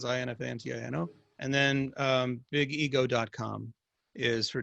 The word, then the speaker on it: Infantino: Infantino is spelled like it sounds, Infantino.